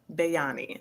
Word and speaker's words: Bayani: hi it's is it is your name pronounced bayani you can say it bani okay com how you